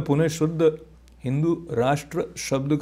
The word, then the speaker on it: राष्ट्र: हिंदू राष्ट्र, हिंदू राष्ट्र कहना चाहिए, हिंदू राष्ट्र कहना चाहिए, क्योंकि that is where the Sanskrit Hindi pronunciation comes about.